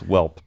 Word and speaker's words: Whelp: enterprise podcasts of 2021 welp magazine it rhymes with yelp but it's whelp is this a is